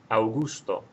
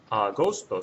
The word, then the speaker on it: agosto: So if I pronounce that word that I just typed out for you, it would sound like this: Augusto. And you have to ask yourself, does that sound right? Or does agosto sound right? And if agosto sounds right, then just spell it like it sounds.